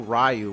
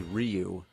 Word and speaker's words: Ryu: like in Street Fighter we didn't know rayu was actually Ryu Blanca some people say